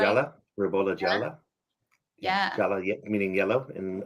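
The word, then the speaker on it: Ribolla Gialla: Is that Am I pronouncing that right? Jala. Rabola Jala.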